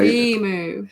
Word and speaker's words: emu: she got it it's supposed to be supposed to put the emphasis on e yeah emu yeah we're probably in